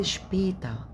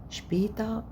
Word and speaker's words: später: في bis später، später معنى برضو ما نطقش الإغ، später später.